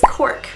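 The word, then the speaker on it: Queork: and her name is Cork. Now that is pronounced like cork, you know, cork bark, cork wood, stuff like that, but we do spell it a little bit differently. It's Q-U-E-O-R-K.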